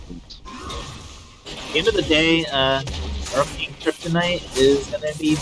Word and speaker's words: Earleking: It's actually French. It's Earleking.